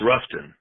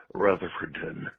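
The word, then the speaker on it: Rutherfordton: of the state and the locals it's Ruffton Ruffton. So uh you know the you know as a local if from an out oftowner by hearing it as Ruffton versus Rutherford.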